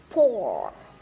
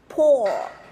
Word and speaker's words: poor: Mọi người nhìn thấy cái miệng của mình không? O. O, tròn môi này, tròn môi đúng không ạ? Miệng của mình hóp hai má lại. O. O, được chưa? Poor. Poor. Được chưa? Poor. Đọc xong miệng của mình vẫn tròn thì mới đúng, được chưa?